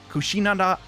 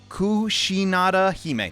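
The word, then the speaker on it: Kushinada-hime: for a miss uh i always say her name wrong kushinanda kushi kushinada hime there we go easy bruh and despite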